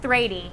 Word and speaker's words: Thrady: You're about to watch a train wreck called Thrady, and it is so exciting. That's our smush name. And riveting. Yeah, Teresa and Brady, we decided to pronounce the H.